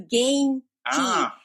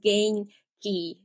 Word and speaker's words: Genki: I pronounce as gain key, and that explains everything so well.